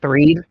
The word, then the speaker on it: Threed: Before you keep going, I just want you to know it's pronounced Threed. Threed? Oh, like in Earthbound, like the town Threed in Earthbound.